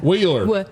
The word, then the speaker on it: Wheeler: Wheeler. Healer. Wheeler. We're pronouncing that.